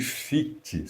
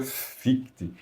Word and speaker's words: Fichte: Em alemão a pronúncia é essa, mas em português a gente fala que fic, não tem problema nenhum.